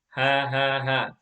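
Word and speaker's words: ح: pressure at all have the letter ha is pronounced from the bottom part of the throat say ha ha ha okay there should be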